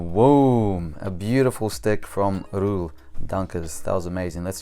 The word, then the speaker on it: Roel: It's Roel. Looks like Royal, but I think it's pronounced Roel, something like that.